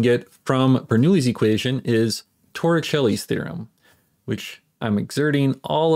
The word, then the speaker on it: Torricelli: Another thing we can get from Bernoulli's equation is Torricelli's theorem, which I'm exerting all of my willpower to not pronounce it Torricelli.